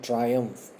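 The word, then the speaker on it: triumph: अ ट्रायम्फ, इसकी spellings और pronunciation को बहुत ध्यान से देख लीजिएगा. TRI ट्राई कहते हैं हम, UMPH अम्फ.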